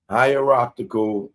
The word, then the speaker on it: hierarchical: You pronounce that word wrong. Hieroptical. I think I was saying hierarch high. I forgot what I said. Hierarchical which means arranged in order of rank. Okay. Hierarchical. Hierarchical. Hierarchical.